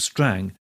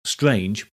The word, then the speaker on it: Strange: ferdinando's title was Lord Strang spelled strange but pronounced Strang so the troop was